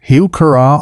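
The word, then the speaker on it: Heuchera: Plant four, hoa, pronounced huura, also called coral bells.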